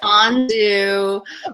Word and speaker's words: Anzu: It's Anzu, rhymes with Anzu. So Okay. Anzu, not Anzu.